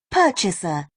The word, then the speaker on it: purchaser: Purchaser, Purchaser. Can you repeat? purchaser, Purchaser. Purchaser. Purchaser. So the stress is on the first one.